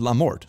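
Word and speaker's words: la mort: butchered in the comments Le Mort is male thus Lee and not la la is the female article Mort is a feminine word so it's lamort Source I am French this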